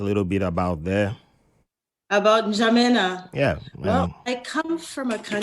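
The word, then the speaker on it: N'Djamena: So Njamena, the N is silent.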